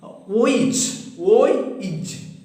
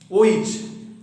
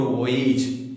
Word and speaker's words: voyage: It is voyage. Voyage. Don't pronounce it as voyage or voyage. It is voyage.